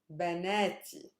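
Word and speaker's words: بناتي: say my girls benetti the stress changes t we had figured out that the last syllable is not a super heavy syllable because it's made up of a consonant and a long vowel it's not super heavy so i move to the preceding syllable na is the preceding syllable to the last one is it heavy you bet it is because it's made up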